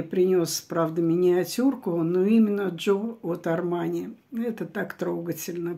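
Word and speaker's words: Giò: И он создает флакон для Джо Армани. Кстати, часто очень мы называли этот парфюм Джио. Хотя правильно произносить Джо, потому что Джорджо Армани, а Джо сокращенно от его имени.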